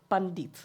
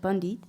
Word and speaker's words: Pandit: In this campaign, you involved a Pandit. Am I pronouncing this right, Pandit?